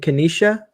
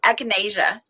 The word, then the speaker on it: echinacea: we're growing uh and kenisha is that how you say it no you said it wrong and now i'm not gonna be able to say it um echinacea echinacea we're growing it uh